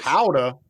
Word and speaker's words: Gouda: Howda. I have been pronouncing Howda. that name What? wrong my entire damn life because of the Food We Network. we call it Gouda here.